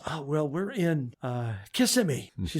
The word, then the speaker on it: Kissimmee: He says, "Oh, well, we're in Kissimmee." She said, "No, I think it's pronounced Kissimmee."